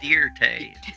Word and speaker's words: Dirt: Joe Dirt close this it's not dirt it's pronounced deer de I step up to